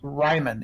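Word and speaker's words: Riemannian: nathan says and also i don't think it's pronounced ramonian i think it's pronounced ryman isn't that right um i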